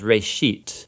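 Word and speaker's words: רֵאשִׁית: of it's called genesis genesis comes from a hebrew word uh it's pronounced reishit and it just means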